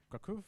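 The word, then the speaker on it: Kraków: I think one is in Warsaw, the other one the other one is in Kraov. Kaku, that's how you say it.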